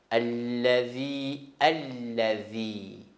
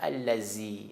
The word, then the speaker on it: الذي: من شر الوسواس الخناس الذي Ça, je répète tout le temps. C'est pas allazi. Allazi, c'est faux. Alors, laisse tomber allazi.